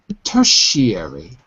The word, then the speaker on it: tertiary: I want you to go from back to front. So first, the last syllable is E. Just say the last syllable. E. E. Now say re. Re. Airy. Airy. Airy. Airy. That's the difficult part. Tertiary. Tertiary. That's it. Tertiary has 4 syllables.